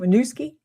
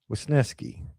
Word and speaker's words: Wisniewski: Is that how you say it? Winooski? Wisniewski. It's Wisniewski?